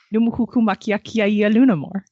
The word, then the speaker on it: Numuhuku makiakia lunamore: It's pronounced literally how it looks. Just Fortunately, pronounce every letter. Aya in the middle is the only really weird part.